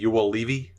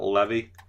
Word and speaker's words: Juolevi: I think it's Olli Juolevi, not Levy.